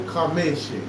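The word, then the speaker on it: חמש: Chamesh, Yom Chamesh, that's how you say it.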